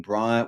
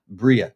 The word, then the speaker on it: Briah: Now, back in the day, uh, Rak Michelle was talking about making Brier, which Bria, I should say. I must get my pronunciation correct. Bria, it is it's spelled Brier, but it's Bria.